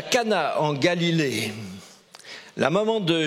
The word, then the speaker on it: Cana: les no de Cana c'est Cana il faut bien prononcer Cana c'est pas c'est pas les No de cadna quand tout marche plus